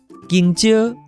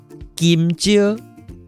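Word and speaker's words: 芎蕉: King-tsio. King-tsio. Or some people, like my parents, would call them Kim-tsio. Anyway, so these two pronunciations all work.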